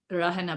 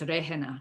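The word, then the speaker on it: रहना: It looks like rahana, but it's rehana because of the ha.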